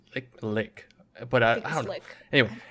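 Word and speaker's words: Licht: Lick. I don't. L-I-C. I always want to say light, but it's not light. It's not. And I was like, I want to say the T, but I was like, is it liched?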